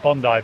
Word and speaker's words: Bondi: that's obviously the most famous one being uh Bondi be Bondi I'm glad you pronounced that right yeah well how did they